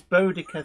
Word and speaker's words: Boudica: Especially not if they're not even sure if this Boudica thing is the real pronunciation either.